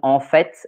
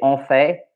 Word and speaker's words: en fait: Some people actually pronounce the T in en fait, and some people don't. I think the people who pronounce it are more numerous. But if you say en fait, it's not wrong.